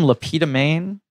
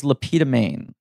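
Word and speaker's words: Le Pétomane: There was the man named Lapita Maine, which Mel Brooks takes the character name for the mayor he plays in Blazing Saddles.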